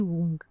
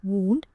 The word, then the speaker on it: wound: You can even pronounce it differently. Wound around the wound. So in this case, the first wound means wrapping around as a bandage. And the last one is wound, which means injury or getting hurt.